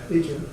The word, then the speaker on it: Datrium: Datrium, how you pronounce it? Datrium.